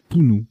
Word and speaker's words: punu: Punt et Pounou ou Punu, je ne sais plus comment ça se prononce celui-ci. Pounou, voilà.